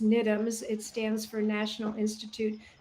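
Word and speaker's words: NIDMS: the UK but they're excellent one is it's pronounced nitums it stands for National Institute of dance medicine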